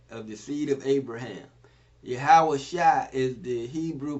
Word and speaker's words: Yahusha: Again, Yahawashi, Jesus, is a Hebrew Israelite of the seed of Abraham. Yahawashi is the Hebrew pronunciation of his name, and we're going to get into it a little bit.